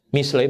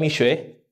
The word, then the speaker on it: Mishle: Amsal ini kan kalau di dalam bahasa Ibraninya ya, Mishle, semoga benar saya bacanya. Mishle, bukan Mishwe, ya beda.